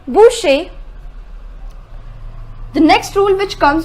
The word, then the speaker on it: Boucher: I say butcher Boucher the pronunciation is Boucher the next rule which